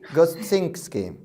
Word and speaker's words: Gostynski: what is how is the right way to pronounce your name it's gustinski okay and where does it come from from